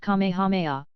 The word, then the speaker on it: Kamehameha: it through Rifts in the cloud rack when Kamehameha pronounced Kamehameha the great who was a sort of a